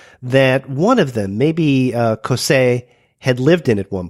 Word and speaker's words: Cossé: Is that how you pronounce their names? Yeah, that's correct. Cossé, yes.